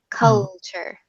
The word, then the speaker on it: culture: a little faster and don't don't think about the T its Chuck like pretend there's a CH